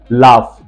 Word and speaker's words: laugh: लाफ, देखिए जरा, LAUGH, लाफ, इसमें लास्ट में GH दिया गया, इसको हम घर नहीं पढ़ रहे, इसको फ पढ़ रहे, लाफ।